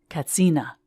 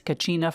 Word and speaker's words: katsina: Kachina doll mama explained katsina pavati corrected her it seems there is no cha sound in the Hopi language and tourists have been mispronouncing it as Kachina for decades are you a runner